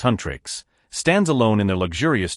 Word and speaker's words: HUNTR/X: Rumi, the fierce and ambitious leader of the world-famous K-pop girl group HUNTR/X, pronounced Huntrix, stands alone in their luxurious dorm, staring intensely at her reflection in the mirror.